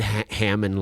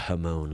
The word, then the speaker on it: Hamon: Like I said Hammond line the first time instead of Hamon line.